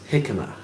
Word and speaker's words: jicama: Vic Goddard says, Mel is right, it's pronounced jicama.